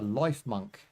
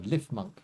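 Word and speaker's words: Lifmunk: Uh, that's a life monk or lift monk if you want to pronounce it correctly.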